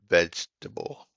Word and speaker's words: vegetable: is how it's spelled it's pronounced vegetable as if the second e doesn't exist thank you the one